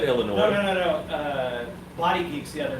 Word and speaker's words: Illinois: I said Illinois. No. Body Geeks the other night said he was going through Illinois. Illinois, yeah. I said, no, the S is silent.